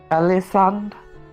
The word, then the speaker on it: Elisande: Elisande?